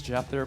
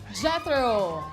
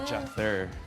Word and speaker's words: Jether: My name is Jether. Jethro. Yeah, Jether. Parang, Can you spell it? Parang weather, but instead of W, J siya.